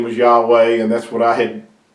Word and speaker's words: Yahweh: of the name of Yahweh that is the correct way of pronouncing his his name Yahweh and yehovah Jehovah yah why all those names are are Mis not only mispronunciations they're they're really corrupting the name of our creator and I hope that